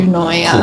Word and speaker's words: Euonia: So EUONIA, that's how you say it as well. EUONIA, cool. So like you annoy me a lot.